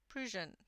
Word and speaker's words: Prussian: lizzy oh wonderful then you almost posted like russian pro prusion thank you lizzy then uh the sepia 50 again 906.